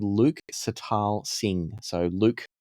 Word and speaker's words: Sital: So the artist is called Luke Sital Singh. So Luke l u k e and then Sital s i t a l so like sitar but with an l at the end and then it's dash